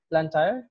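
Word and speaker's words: Blantyre: at the university of malawi the polytechnic in black tire is is that the right pronunciation plantair malawi okay and then also an adjunct professor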